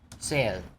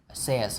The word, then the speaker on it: says: Chữ says này á mình đọc là says, bỏ âm y đi, chúng ta là says thôi.